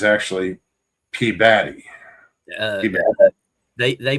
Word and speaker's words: Peabody: There's a town There's a town in my state called Peabody, and people say Peabody Yep. when it's actually P-body. Yeah, they They They pronounce it Peabody.